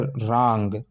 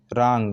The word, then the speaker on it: wrong: यदि आर से पहले आता है डब्लू तो वो क्या होता है, साइलेंट होता है, उसका उच्चारण नहीं होता है, ठीक है। जैसे रांग, WRONG, तो आर से स्टार्ट हुआ ना, डब्लू क्या है, साइलेंट है, लिखते हैं लेकिन पढ़ते नहीं है।